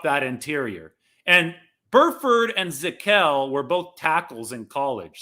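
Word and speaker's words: Zakelj: And then Nick, this is a tricky pronunciation, Nick Zackelj. That J at the end of his name is not a typo. Nick Zackelj out of Fordham, which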